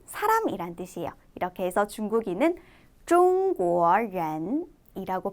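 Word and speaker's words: 中国人: 이렇게 해서 중국인은 中国人 이라고 발음해 주시면 돼요. 전혀 어렵지 않죠? 자, 같이 따라서 다시 볼게요. 我 나는 不是 아닙니다. 中国人 중국인이 우리 아까는 나는 누구입니다 라는 표현을 배웠다면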